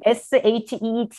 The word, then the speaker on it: sheet: 페이퍼는 sheet, SHET, sheet. 그리고 이거는 짧게 SHIT거든요. 뭐 아시겠지만. 근데 발음이 물론 알아요. 이거 sheet은 좀 길게 해라. 이건 짧게 해라.